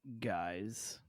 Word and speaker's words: guise: science guys again g-u-y-s-e-g-u-i-s-e I believe it's pronounced guys it's pronounced guys uh